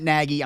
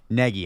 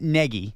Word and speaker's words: Nagy: Negi, I'm sorry. I have to get this right. It's pronounced like Neg Peggy. Yeah, like Peggy. Yes. Matt Negi, yes, I think is a competent offensive coach.